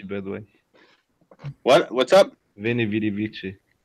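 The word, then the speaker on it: Veni, vidi, vici: Veni Vidi Vici. Not in Latin. It's with the W pronunciation.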